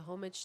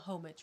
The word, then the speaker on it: homage: It's a homage to my mom. Not homage. Homage.